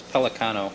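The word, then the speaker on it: Pellicano: It's Pelicano, you know how it's pronounced.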